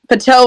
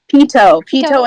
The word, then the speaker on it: Pito: for the door because Pato and Epic are upstairs, and there's not or Patu. How do you pronounce it again, Soph? Ito. Pito and Epic are upstairs.